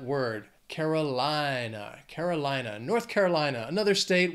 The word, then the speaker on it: North Carolina: we have North Carolina this state has five syllables but Carolina the stress is going to be on that the third syllable in that word Carolina Carolina North Carolina another